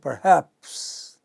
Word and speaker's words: perhaps: know perhaps non-initial syllable the final syllable you don't say perhaps you say perhaps okay part is short soft but haps is long loud heard clearly nation initial